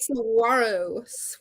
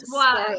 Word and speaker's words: Saguaro: Saguaro. The G is silent. Saguaro, yeah.